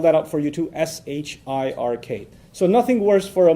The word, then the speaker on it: shirk: out for you too s h i r k so nothing worse for a muslim from a faith perspective nothing worse than shirk s-h-i-r-k sounds like shrek so that's easy to